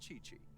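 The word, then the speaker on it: Qiqi: his voice actor oh and she also borrowed Chi-Chi Chi-Chi meaning boo boo Pharmacy is very short-handed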